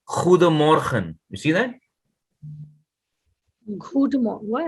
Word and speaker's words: Goedemorgen: So, accordingly, it's you already know O is U, right? So, they say good morning, they say Goedemorgen.